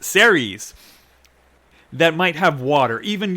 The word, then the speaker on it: Ceres: There's a dwarf planet, I think it's pronounced Ceres, that might have water.